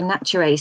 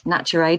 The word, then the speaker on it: Naturae: Okay, so Destiny Arising is book 3 of the Naturae series. I'm going to say that's Naturae, not Naturae, because it's spelt nature AE.